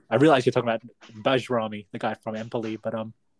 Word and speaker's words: Bajrami: when you said when your horrendous streak of mispronouncing players' names continued, and you said Berami. Had me flashbacks to Valon Barami. It's actually, I realize you're talking about Bajrami, the guy from Empoli, but you scared me for a second there.